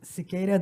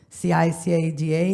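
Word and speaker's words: Ciqueira: changed my name to c i c a da because that's how you pronounce it cicada like the bug last name spelled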